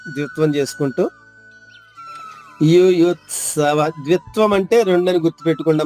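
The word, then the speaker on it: యుయుత్సవః: అక్షరం త ద్విత్వం చేసుకుంటూ యు యుత్సవ ద్విత్వం అంటే రెండుఅని గుర్తు పెట్టుకోండి ండమ్మా ఆఘాతు ఎప్పుడున్నా దాని తర్వాత అక్షరం ద్విత్వం అవుతుంది ద్విత్వం అంటే రెండు అక్షరాలు అవుతుంది అది బాగా గుర్తుపెట్టుకోండి యోయుత్సవః యోయుత్సవః విసర్గ ఉచ్చారణ హ్రస్వంగా మూడవ మూడవ చరణము మామ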